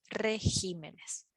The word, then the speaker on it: regímenes: pero no logra adelgazar la misma situación es regímenes en singular es decimos régimen pero en plural decimos regímenes entonces son tres las